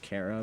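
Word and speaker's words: Chara: the first human's name, yes, I know it's pronounced Cara, but I've always liked the pronunciation car more.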